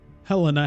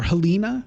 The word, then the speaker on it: Helena: with a Helena here Helena Helena or Helena or helina however you like to say it cuz that name is pronounced in different ways by different people in different places in different languages in different countries I tend to go with Helena but I think I've